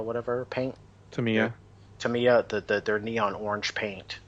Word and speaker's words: Tamiya: Yeah, I'm gonna have to pick up the, how do you pronounce it? The Tamamaya whatever paint. Tamiya.